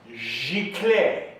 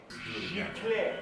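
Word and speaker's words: giclée: It's pronounced Giclee. Giclee. Giclee.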